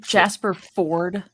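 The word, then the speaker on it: Jasper Fforde: set and is that jasper ford like is that how you say his name jasper ford like they added an extra f and an e for no absolute reasons just to throw people off sorry so for example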